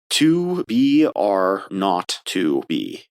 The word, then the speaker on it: 2BR02B: The 0 in the telephone number he pronounced not. The number was 2BR02B.